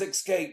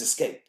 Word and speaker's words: escape: Tony Romo says escape. There's no K or X in escape. It doesn't work. That's different. Don't tell me it's local dialect. No, it's not. It's mispronouncing a word, and someone should have said to this man, yo, man, it ain't escape. It's escape.